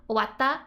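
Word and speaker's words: 終わった: And so how you kind of pronounce the tiny tsu is just a stop. So instead of owatta, it's like owatta. That's like just how that tsu means.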